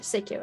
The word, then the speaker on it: Sekiro: Again, I'm trying to finish Sekiro. That's how you say it. Sekiro is how you say it.